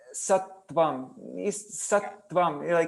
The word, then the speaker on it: Sattvam: But musically you have to say Sattvam, like because there's 2 conjuncts, and so the conjuncts make the previous syllable.